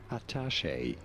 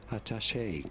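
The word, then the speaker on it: attaché: In French it is said as atache in English atashe in British English with an emphasis on the first syllable atache case in English. However, it is usually said as ataché case with an emphasis on the third syllable of attache atash orach.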